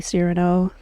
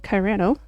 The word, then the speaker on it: Cyrano: So, Vesta, Camafrog, Snake, Sandy, Tabby, Cyrano, who I called Kyrano at the time, Amelia, Marcy, that's the